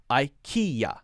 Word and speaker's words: IKEA: uber okay next one IKEA I just like I just like me i I IKEA we're pronouncing every part of it now I have no idea how to say this in the Swedish it might be the same we pronounce it as I he yeah like a yeah at the end yeah yeah that's by